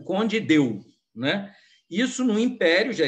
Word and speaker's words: Conde d'Eu: império já existia e as pessoas pronunciavam povo brasileiro não era tão letrado para ficar falando em francês né então acho que eles vão falavam condido só na na aristocracia